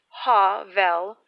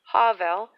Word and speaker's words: hovel: was normally pronounced as hovel hovel with the accent placed on the first syllable by most woodsmen usually hovels were built